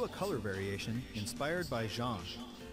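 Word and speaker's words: Jeanne: color variation inspired by Jean Jean looks like je that's how that's pronounced looks like Jean she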